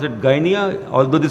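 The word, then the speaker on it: Gdynia: signed between polish shipping company in Guinea they pronounce it Ghanaian although the spelling is gd-y-n-i-a and Pakistan ocean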